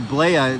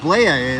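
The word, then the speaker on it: Blea: the left that's officer blaia it's spelled b-l-e-a i call him uh uh blee the flea because that's what he is he plays for the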